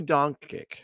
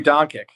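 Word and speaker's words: Dončić: Luka Doncic. Luka Doncic.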